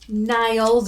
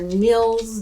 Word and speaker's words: Nils: It's called Nils or Nils, depending on how you pronounce it.